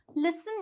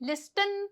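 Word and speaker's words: listen: बोलेंगे हम फसन बोलेंगे जैसे कि लिसन बोलेंगे लिस्टन तो नहीं बोलते ना लिसन जैसे कि मॉइश्चर क्या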